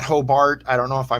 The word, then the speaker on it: Hobart: And I said it right. It's Hobart, not Hobart.